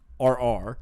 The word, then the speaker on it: Sawyerr: Sawyerr spelled with two R's. Yep. Right? So Sawyerr.